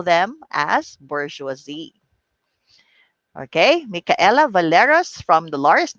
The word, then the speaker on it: bourgeoisie: is bourgeoisie all right even before but the pronunciation of this is bourgeoisie that is right bourgeoisie so it is a french term used to